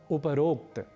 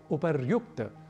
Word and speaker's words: उपर्युक्त: ठीक इसी तरीके से एक और शब्द है उपरोक्त जो कि गलत है हमें कहना चाहिए उपर्युक्त उपर शब्द है ऊपरी वस्तुतः मूल शब्द है और उसके बाद हम एक प्रयोग करते हैं उक्त का तो जब दोनों शब्द मिलेंगे संधि होगी तो तो शब्द बनेगा उपर्युक्त ना कि उपरोक्त यदि ऊपर ऐसा शब्द